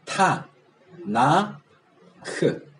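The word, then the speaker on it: תנ״ך: T, N, K를 어떻게 발음해요? 지금처럼 T, N, K라고 그렇게 할 수밖에 없잖아요. 그러니까 이걸 발음하기 쉽게 하기 위해서 거기다가 R을 넣은 거예요. 그러니까 타, 나, 크. 그래서 타나크예요.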